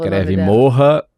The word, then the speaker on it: Morra: Morra, na palavra em português mesmo, Morra Aarons, com 2 As, Mele, M-E-L-E.